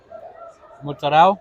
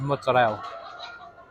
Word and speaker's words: mozzarella: Um, Mozzarella. I think this is mozzarella. Or as Americans say it, mozzarella. Mozzarella. But if you're Italian, it's mozzarella.